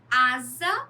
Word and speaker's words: asa: Asa, né? Com um S só, que tem som de Z.